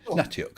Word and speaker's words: Natiuk: I get Natiuk. Is that how you say it? Sure. Natiuk. Yes. Is that how you say it? Well, you got it right.